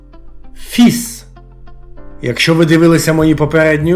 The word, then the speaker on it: fils: швидше за все ви знаєте що кінцева літера с у французькій мові не читається однак у цьому слові Як не дивно кінцева літера с читається і при цьому не читається попередня літера L таких слів у французькій мові небагато і їх читання потрібно запам'ятати слово фіз у французькій